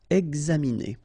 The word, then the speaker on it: examiner: Okay, it's interesting here because you've got this X and then you pronounce it X. Examiner.